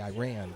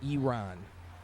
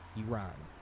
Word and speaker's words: Iran: I used to probably say Iran, but it's like E, the letter E, and then the name Ron. Iran. Iran.